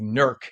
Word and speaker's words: Newark: Ward in Newark said, or as it's pronounced locally Nerk, not Newark, Nerk, she said um Newark